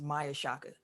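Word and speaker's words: Maia Chaka: to officiate nfl game i believe her name is pronounced maya shakka so she's going to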